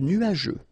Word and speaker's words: nuageux: Remember, final X here not pronounced.